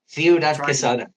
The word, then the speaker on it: Ciudad Quesada: Ciudad, your pronunciation's getting much better, Aki. Ciudad Quesada.